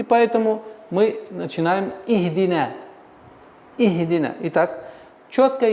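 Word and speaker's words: اهدنا: В данный момент у нас огласовка третьей буквы кесра, и поэтому мы начинаем «ихдина». «Ихдина». Итак, четкое и ясное произношение звука «и».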